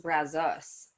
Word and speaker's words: Brazos: you still okay yeah yeah so apparently it's pronounced brazos which i just learned yeah i love it